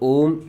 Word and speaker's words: ओम: म अम, अम, तो ओम शब्द का जब भी आप उच्चारण करते हैं तो आपको आ, उ और म इन तीनों का एक साथ प्रभाव आपको महसूस हो, यही उच्चारित करने की एक सही प्रक्रिया होती है।